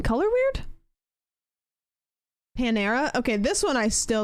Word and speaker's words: Panera: Palmera Palmera Palmera um emphasis on the second syllable Panera I do Accent on